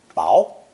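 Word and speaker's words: 雹: below is the character for this weather phenomenon pronounced bow to avoid confusion the character for ice ping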